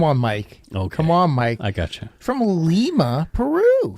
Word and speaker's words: Lima: From Lima, Peru. Yeah. Not Lima, like the people who in the United States pronounce that place. No, because that's not right. It's not Lima. They're not Lima, beans.